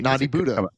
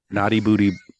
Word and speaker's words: Naughty Buddha: Yeah, you have to you have to kind of set your mind to saying it correctly. Naughty Buddha. Naughty Buddha. Naughty Buddha Burger Bar. Naughty Booty.